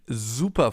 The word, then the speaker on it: super: That's why it's called Bienen S, because it's pronounced Z, as in super, for example, or sehr.